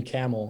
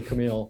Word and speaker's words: Kamil: preschool i think the bus driver called me camel because he couldn't say camille for some reason i think it's that hard